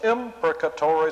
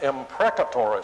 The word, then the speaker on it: imprecatory: I sometimes hear people call them imprecatory psalms. Well, they're still imprecatory psalms, even though they mispronounce the word. But it's possible to understand it the other way. Both of these pronunciations are acceptable, but an imprecatory psalm